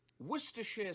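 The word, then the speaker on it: Worcestershire: We're looking specifically at the pronunciation, which is of course worershir sauce. Worsher sauce.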